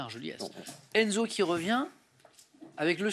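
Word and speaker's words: Argeliers: Si je regarde Argelier, A-R-G-E-L-I-E-R-S, on dit bien Argeliès.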